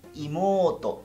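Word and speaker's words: いもうと: Y hermana menor sería imoto, no imoto. Imoto. Ototo. Siempre recuerdas esas estiraciones de sílaba.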